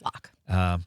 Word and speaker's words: Lach: we have Megan Lach, and I'm pronouncing it, it's Lach, right? Yes, it's Lach. Spelled L-A-C-H. Yeah, And I always say Bach with an L.